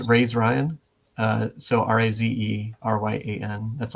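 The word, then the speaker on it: razeryan: pronounce my own name I'm going to say it's raised Ryan uh so r-a-z-e r-y-a-n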